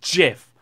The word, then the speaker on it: GIF: care how you want to pronounce it it's pronounced jiff like the wash it like the cleaner before